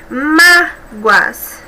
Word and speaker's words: mágoas: Nós temos aí 2 sílabas, né? Uma dissílaba, terminada em ditongo, né? Em destaque no plural, mágoas. E ela tem como sílaba tônica a penúltima, então ela é paroxítona, portanto é acentuada.